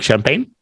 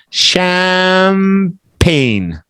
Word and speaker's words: champagne: Jason do you like champagne you've never tried it champ okay in English it's p e i n Ain just like the rain sham pain no G pain just like the rain